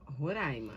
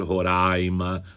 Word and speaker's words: Roraima: Segundo os dicionários, ambas, ambas as formas podem ser usadas. Tanto pode ser Roraima quanto Roraima. E há ainda a utilização, a possibilidade de se usar roraí com a centagudo que é a maneira como os os autocutones da região falam, né? Não sei se podemos chamar de indígenas, mas os autóctonos, autóctic é aquele que nasceu lá. Uhum. Né? Então, os autóctones da região falam roraíma lá na língua deles.